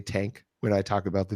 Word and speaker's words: Tangk: to pronounce it it's tank so it's t an GK and apparently you're supposed to put like a little emphasis on the G sound little stank on the